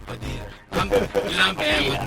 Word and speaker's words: Padilla: How did I say it? It's Padilla. Padilla.